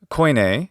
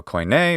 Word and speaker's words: koine: of this one that koine greek or guinea greek if you want to use the modern pronunciation which is just fine so koine or kini or quinye or however you want to pronounce it that greek is a